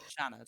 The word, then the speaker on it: Seanad: Shannid. Shannid. Shannid. Okay. The Shannid. You know the name Sha. Yeah. Shaad. Shannon. Shanned is perfect. That pronunciation there is perfect.